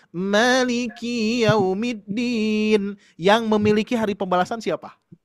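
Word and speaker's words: مالك يوم الدين: Tapi kalau misalkan Bapak Ibu membacanya Malikiyaumiddin, yang memiliki hari pembalasan siapa? Allah. Oh, itu. Malik. Hati-hati. Manusia, Malikiyaumiddin. Kalau dipanjangkan ki-nya Pak, itu artinya adalah milik sayalah hari pembalasan.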